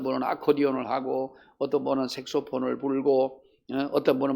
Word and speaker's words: 색소폰: 근데 색소폰이라고 하는 것은이 색소폰을 처음에 만들 때에이 만든 사람이 무슨 색소죠? 그 사람의 이름을 따 가지고 색소폰 그러는데 흔히 우리가 섹스폰 근데 섹스폰이 아니에요. 색소 색소폰이에요.